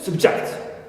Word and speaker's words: subject: I can discover that in the noun subject the first is stress number one right and if I